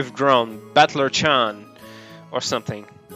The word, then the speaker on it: Battler: far the problem is my own name that is made up of characters for fight and person and it's pronounced battler put it all together and you got battler i've seen this guy